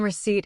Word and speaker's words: receipt: One thing to note, The P in receipt is silent. It's pronounced RHCT, not RIHCT.